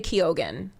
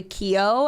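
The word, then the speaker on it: Keoghan: to pronounce that I I honestly before I thought it was Barry Kio and then I was like oh there's a gan at the end okay I yeah I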